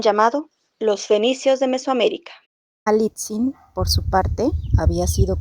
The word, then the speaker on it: Malintzin: Para agregar un título de respeto al nombre que pronunciaban Malina, decían Malitzi.